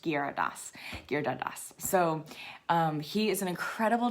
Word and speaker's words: Giridharadas: It looks like Giridharadas, but it's pronounced Giridharadas.